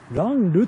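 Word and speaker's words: 蘭留: この読み方はランルと読みます。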